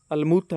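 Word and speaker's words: الموطأ: The book of हैदत मूता या मवाता इधर लिखो, लेकिन जो इसकी करेक्ट अरेबिक प्रोनाउंसिएशन है वो अलमूता है।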